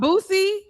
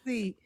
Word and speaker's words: Boosie: I it's- love Boosie. It's pronounced Bussy. I'm pretty sure he pronounces it that I way.